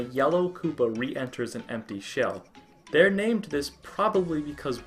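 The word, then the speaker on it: 四: The number 4 in Japan, if you're not aware, is very superstitious and often avoided, as it can be pronounced as she, the word for death.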